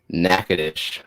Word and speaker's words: Natchitoches: would it be s-c-h head down to nakadish which is spelled uh natchitoches all right so yes